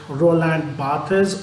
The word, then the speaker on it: Barthes: friends let me first tell you something about Roland Bas or uh in French we pronounce his name as Roland B uh he